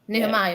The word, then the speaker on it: Nehemiah: Nehemiah. Is that how you pronounce his name?